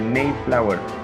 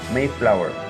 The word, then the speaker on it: Mayflower: Se dice Mayflower. Mayflower se escribe, pero se pronuncia Mayflower.